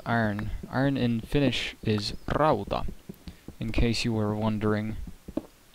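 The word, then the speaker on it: rauta: iron in Finnish is Raa in case you were wondering in case you were wondering and yes you do need to roll your RS if you want to say it properly which I've noticed a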